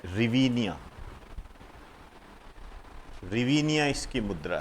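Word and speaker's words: hryvnia: इसकी मुद्रा है रिविया रिवी निया इसकी मुद्रा है और इसको जो लिखा जाता है एच आर वाई एच आर वाई वी एन आई ए H silent होता है इसके अंदर एच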